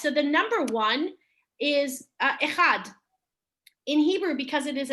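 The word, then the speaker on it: אחד: Echad.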